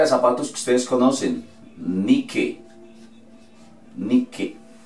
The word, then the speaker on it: Nike: Nike. Nike. La E al final no suena. La I en inglés, ¿cómo se dice? I. Entonces vamos a decir Nike.